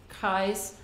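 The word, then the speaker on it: Kies: her family pronounced it kai's they actually changed the spelling so it would be pronounced like rhymes with pies you know the food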